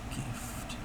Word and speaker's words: GIF: GIF like the peanut butter.